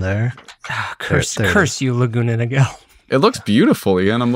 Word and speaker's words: Niguel: I used to remind myself how to spell it by calling it Niguel. So. Nice. Yeah, there's that missing like, U.